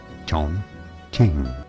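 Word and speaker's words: 重庆: Chongqing.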